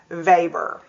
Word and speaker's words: Weber: Please notice, again, let me call your attention to the spelling of his last name, but it's pronounced Weber.